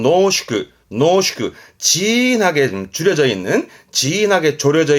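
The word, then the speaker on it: 濃縮: 발음은 노슈크. 진하게 줄여져 있는, 진하게 졸여져 있는 걸 농축액 그러잖아요. 그 농축입니다. 발음은 노슈크.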